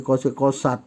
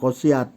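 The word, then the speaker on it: قست: Jadi ini kosia dari qasat jadinya ya. Qasat ini fi'il madi ya, bersambung awalnya kosia karena ada tak bersambung jadi qasat untuk memudahkan bacanya, bukan qasiat. Kalau qasiat susah jadi qasat ya.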